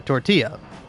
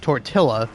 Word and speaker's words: tortilla: thing with like uh tortilla where it's like it's not tortilla, it's tortilla.